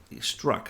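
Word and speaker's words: Strzok: and his boss whose name is struck you pronounce it strong luck struck I keep need the needing to be reminded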